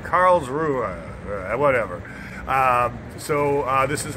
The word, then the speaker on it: Karlsruhe: kind of hesitated because I've been mispronouncing it I said Carl true or Karlsruhe but it's like Karlsruhe at whatever so this